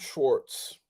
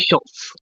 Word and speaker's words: Schwartz: Richard Schwartz. You said my last name right this time. Cool. Did I say it wrong the You first said time? Schultz. Like, there's no L.